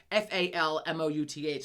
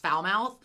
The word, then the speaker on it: Falmouth: t h I'm like and I knew it was not pronounced foul mouth but I was like in my mind I can't unsee foul mouth and I'm like I need to live in fou mouth and it's Falmouth anyway Falmouth so like